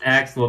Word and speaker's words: Accel: But It's pronounced Axel because triple Axel exists.